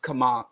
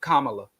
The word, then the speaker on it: Kamala: evidence of so people are making accusations against kamama Kamala right sorry y'all get mad when I mispronounce her name I don't know why but